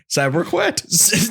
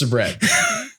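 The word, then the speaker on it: Sabrett: Sabriquet? No, it's not. Sabrina Carpenter? Sabret. It's just Sabret.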